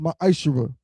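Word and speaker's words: מעשר: Means tenth in Hebrew, and is pronounced Ma'ashera.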